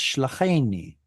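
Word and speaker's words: שְׁלָחֵנִי: It's shlacheni, not shlachani, shlacheni. Sorry. There we go. Okay. Shlacheni.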